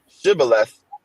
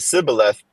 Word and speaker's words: Shibboleth: It says, then said they unto him, say now Shibboleth, and he said Sibboleth, for he cannot frame to pronounce it right.